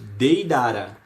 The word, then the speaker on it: Deidara: chance lê chama beleza a letra e a deve ser pronunciada com o som em pera pera não é é pera e apresento aqui vamos dar uma palavra de irara não personagem do Naruto Deidara deitado não é Deidara então sempre a letra e